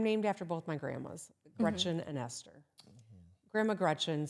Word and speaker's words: Gretch: And the whole Big Gretch, you know, so I'm named after both my grandmas, Gretchen and Esther. Grandma Gretchen said, never let anyone call you Gretch. It rhymes with wretch.